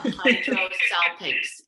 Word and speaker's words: hydrosalpinx: And spell it for me, Serena, so we get the condition right. Hydro's easy. Yeah, hydrosalpinx, HYDRO, and then salpinx is SALPINGX. Is that right? Salpinx.